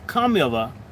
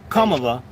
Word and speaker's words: Kamala: The proper pronunciation is Kamala. Kamala, that's her name, and that's actually more like what she is.